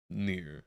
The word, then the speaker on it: Nir: I'd like to pronounce it Nir, but I also don't want it to be Nur if it's more properly said such. Nir, okay, was correct.